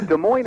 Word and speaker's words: Des Moines: go against you no De Moine is what I put in my book uh there may be some variation with the first syllable but I would I would I would give this much counsel be careful about over pronouncing and a vowel in an unstressed syllable that's very good his